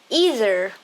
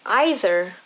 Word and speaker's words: either: neither have flexible pronunciation you can say either or either or neither or neither both are correct it depends on which